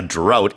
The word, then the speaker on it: drought: So yeah, a drought is spelled DROUGHTS. drought라고 발음을 하고요. 스펠링에는 GH가 들어가 있는데 이거를 이제 뭐 푸 발음으로 한다든지 이렇게 하진 않습니다.